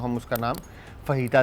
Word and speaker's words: fajita: मगर फिर भी सही वर्ड जो है वो फहीता है। आप फजीता बहुत सारे लोग बोलते हैं। इसमें कोई वो नहीं है क्योंकि पढ़ने में वो फजीता आ रहा होता है तो जे साइलेंट है। तो इसको फहीता पढ़ा जाता है।